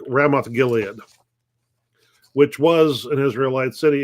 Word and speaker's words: Ramoth Gilead: they're trying to regain rabbith Gil what's the name I mispronounce the name hang on they're trying to to retake ramoth Gilead which was an Israelite